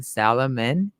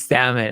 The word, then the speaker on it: salmon: about aqua bounty stock i was saying salomon it was salmon i was i was pronouncing it very it was very wrong but it was so